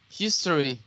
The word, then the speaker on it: history: syllables the next one history if you say history you're saying three syllables his try with two syllables history history exactly some